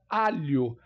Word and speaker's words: alho: vamos a palavra alio Alo eu não falo aur por exemplo H com som de de R ou au o o h não sendo pronunciado eu falo alho percebo que tem o